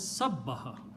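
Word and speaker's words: سبّح: Take the middle letter and put a shadda on that. This will be pronounced as sabbaha. Ba is coming twice, right?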